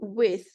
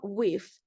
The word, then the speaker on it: with: Same goes to with, not with. So you have to make sure the TH sound is visible.